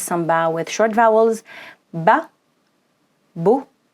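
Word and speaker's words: باب: how we pronounce it it becomes bab bab so bab is actually an actual word it's your first word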